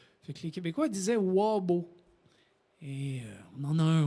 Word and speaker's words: wabo: en ferme, sauf qu'on n'était pas capable de prononcer le mot hobo, le H à l'anglaise. Fait que les Québécois disaient wabo.